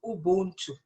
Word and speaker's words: Ubuntu: Okay, it's actually Ubuntu.